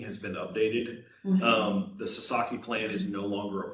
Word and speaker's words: Sasaki: Well, and that's Sadaka, can't pronounce it, Sadaka, can't pronounce. That signage that was the. Sasaki, yes.